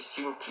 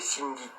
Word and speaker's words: Sindhi: Ils ont gardé le nom qu'en Inde, en fait, on prononce mal. Du coup, on dit Sinti ici en Europe. Mais en Inde, c'est Sindhi. C'est ceux de la rivière du Sindh.